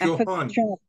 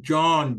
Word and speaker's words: John: Johan Kennedy was not Johan it is John John j o h n is John okay okay H is not pronounced okay sir so while